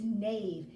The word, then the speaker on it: knave: it be nave so KN AV is nave and that's K is silent in this word and it means to